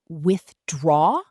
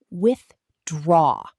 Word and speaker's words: withdraw: The word withdraw, say it like withdraw. The stress is on the second part.